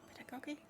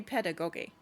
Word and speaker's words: pedagogy: I work in a library that carries books about uh how do you have I ever said pedagogy out loud? Is that how you pronounce it? pedagogy. It can't be pedagoguy.